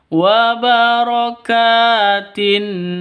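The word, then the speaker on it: وَبَرَكَاتٍ: Wabarakatin alaik itu salah yang betul. Wabokatin alaik alaik.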